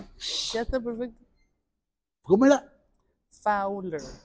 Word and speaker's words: Fowler: Fowler. Fowler. Sí. ¿Por qué le ponen O si suena U? Porque la O con la W suena U.